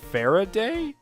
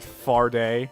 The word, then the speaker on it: Faraday: Farr a day yeah you guys pointed out that I've been mispronouncing Kay's name it's actually a Faraday um kind of it I've been calling it far day because it sounds better in my opinion but I'll call our